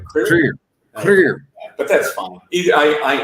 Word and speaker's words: Krier: you if you wish you could do a more Germanic pronunciation my last name clear we do it clear but that's fine I